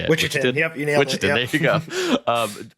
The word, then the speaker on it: Wichitan: Wichitan.